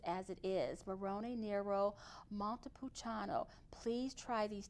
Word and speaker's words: Montepulciano: And let me tell you, I had not had this wine before until I met Claudia Corna, Montepulciano di Abruzzo. And I pronounced it correctly, didn't I, Claudia?